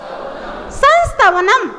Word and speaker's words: संस्तवनम: इसको आप पहले 3 टुकड़ों में बोलो, फिर आपका उच्चारण एकदम सही आएगा। संस ताओ नम बोलो। संस ताओ नम संस ताओ नम संस ताओ नम संस ताओ नम संस्तवनम संस्तवनम संस्तवनम संस्तवनम मयेद